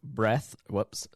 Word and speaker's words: Reath: My guest is Facebook friend Zach Reath. Zach Reath. Excuse me, I said breath because my pronunciation here says breath, and I read that instead.